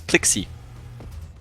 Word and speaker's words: plKzYEe: Apparently it's plKzYEe.